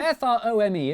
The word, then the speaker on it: Frome: I think it's from wrong it's not from f-r-o-m-e it should be blitheringly obvious it's pronounced from but if you did say from don't worry you're in good company Froome is officially the most mispronounced place name in